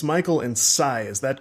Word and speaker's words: Say: It's Michael and Cy, is that correct? That's good. Okay. Yes! I like to have my pronunciation right before the show starts.